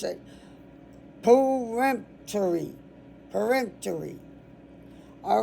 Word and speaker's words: peremptory: Peremptory. Okay. I want always wanted to put something between the P and the T. You don't.